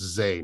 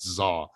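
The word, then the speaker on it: Zah: When you see it spelled to be Z-A-H, it's pronounced Zay, not Zaw.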